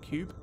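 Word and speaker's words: Q.U.B.E.: I assume you pronounced it Cube. It's spelled with a Q.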